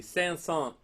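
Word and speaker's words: Saint-Saëns: very very passionate and this is the San song Saint sans is how you spell it st.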